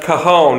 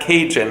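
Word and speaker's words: cajón: And one thing that we learned, that empowered percussion cajon drums is pronounced cajon and not Cajun, as I was pronouncing it earlier.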